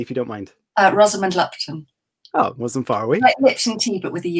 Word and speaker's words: Rosamund Lupton: it uh exactly if you don't mind uh rosamond lupton oh it wasn't far away some tea but